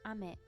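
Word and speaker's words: 雨: You can read it as ame.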